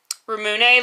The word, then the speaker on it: Ramune: Rusini said it's pronounced Ramune, like cafe.